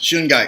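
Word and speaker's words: shungite: do you spell that sungai how do you spell that it's SH u ng ite okay that just like it sounds shooting guy yeah okay well I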